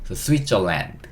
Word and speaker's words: Switzerland: L-A-N-D, 방금 읽었는데 , L 은 'l', A 는 'a', N 은 'n', 그리고 마지막 D 는 'd' 발음 이니까 "land" 는 "Switzerland" 입니다 . 스위스 를 그냥 " 스위스 " 라고 만 말 하면 알아듣지 못 할 가능성 이 높습니다 .